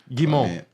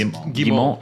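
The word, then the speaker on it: Guillemot: The CEO, another name that I'm not going to be able to pronounce correctly, Yves Guillemont. Guimont. That's Guillemont.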